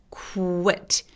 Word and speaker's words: quit: quit 아니고 quit. quit. 그래서 KW의 발음이에요. 정확하게 얘기하자면.